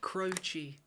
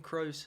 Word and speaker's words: Croce: On today's episode, ladies and gentlemen, I'm going to be doing a a bit more of Jim Crochi. Now, I'm pretty sure that's how you pronounce it because one of our subscribers by